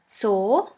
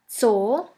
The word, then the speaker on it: Zoo: And the last letter is Z, Z, which is pronounced like the S in the word bits. Here we have the example of the word Zoo, Zoo, which means zoo.